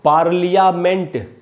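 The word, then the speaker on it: parliament: पा में जो आ है वहाँ पर ज़्यादा रुकना है, फा। ल के बाद आधा अ है, फाल। उसके बाद है मंट, जैसे यहाँ हमने सीखा था डेवलपमेंट, उसी हिसाब से, उसी पैटर्न पर पढ़ेंगे पार्लियामेंट, पार्लियामेंट, पार्लियामेंट, न कि पार्लियामेंट, पार्लियामेंट।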